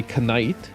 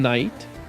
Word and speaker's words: knight: keep well a knight I say canite a knight that's a knight and and they're like and they're like why are you pronouncing the the the the K it's a it's a